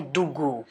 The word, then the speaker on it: द्विगु: द्विगु शब्द को यदि हम प्रोनाउंस करें उच्चारण करें द्विगु का तो ऐसा लगता है दुगु।